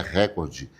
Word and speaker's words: recorde: Recorde tá errado também. Não é recorde, é recorde. A pronúncia correta.